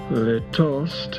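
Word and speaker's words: litost: quote le toast is an untransatable check word. Its first syllable which is long and stressed sounds like the whale of an abandoned dog.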